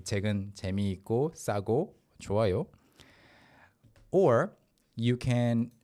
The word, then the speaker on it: 재미있고: but naturally 재미있고, 있고, the double 시옷 sound is kind of weakened because of the following 고, 재미있고. So it will sound like 재미있고 in fluid pronunciation, 재미있고.